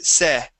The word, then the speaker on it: said: Instead of say, it is said. Okay. A short e sound.